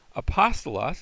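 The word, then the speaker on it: ἀπόστολος: Next, we have a smooth breathing mark, and the smooth breathing mark is silent. So there's our word apostolos.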